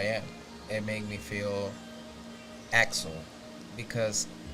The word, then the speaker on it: Aksel: It make me feel Axel because my real name is Axel, Yeah. but I spell it different. So every time I said it the way I said it, like Axel, is me.